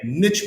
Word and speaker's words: niche: a specialist because my niche marketing is typically what wins. Yes. Well, I so I use marketing is number, right? I I use the French pronunciation so it doesn't rhyme as well, right?